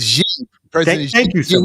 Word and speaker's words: Xi: How do you pronounce the Chinese? Xi.